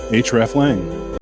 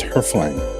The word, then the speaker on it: hreflang: The most common pronunciation is Hreflang. Very nice, pretty efficient, very techy. Dig it. There's another pronunciation, and it's the one that we're going to use because I like it more, and it's kind of fun. And it's Hreflang.